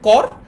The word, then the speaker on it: কর: তার মানে এটার উচ্চারণ হচ্ছে কর আর এটার উচ্চারণ হচ্ছে করো।